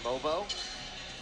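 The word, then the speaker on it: Mogbo: Another look at Jonathan Mobo. Obviously spelled Bogbo. The G is silent.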